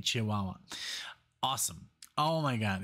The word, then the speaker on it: Chihuahua: That's how you say it, Chihuahua.